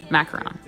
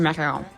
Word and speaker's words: macaron: I know how to pronounce it the French way. It's like croissant and croissant. In English, macaron. En français, or macaron.